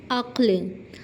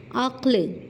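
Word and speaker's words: عقل: अक्ल पहला हर्फ मफतू दूसरा और तीसरा लफज़ साकिन है। यानी पहले हर्फ पर ज़बर है और दूसरा और तीसरा लफज़ पर जजम है। यानी कि वो साकिन है। अक्ल अब अक्ल को देखते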